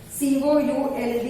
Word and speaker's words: could: C-O-U-L-D is could. S-H-O-U-L-D is should. In all the three letters, L is silent.